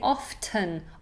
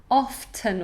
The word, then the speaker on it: often: directly directly and often some people can say often often or the tea is quite old-fashioned but no one's going